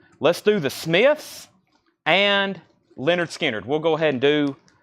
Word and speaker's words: Lynyrd Skynyrd: sticky note on that's Lynyrd Skynyrd pronounced Leonard Skynyrd 55 to Paul Gill